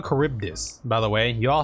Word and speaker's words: Charybdis: to do so okay it's called a charybdis by the way you all have been pronouncing it wrong this whole time it's called a charybdis and so I appeal